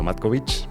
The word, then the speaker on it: Matkovic: Matkovic, me imagino que se pronuncia Matkovic.